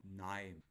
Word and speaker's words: KNIME: Nime. K-N-I-M-E. Nime. Aha, so it's Nime. Nime. Hello? Nime. The K is silent.